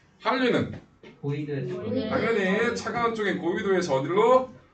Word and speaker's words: 한류: 난류, 한류. 이거 뭐라 읽는다? 난류라고 읽는 거야. 난류라고 읽는 게 아니라 난류, 한류라고 읽는 거야. 난류, 한류 이따고 읽지 말고 자음동화 해야 된다고.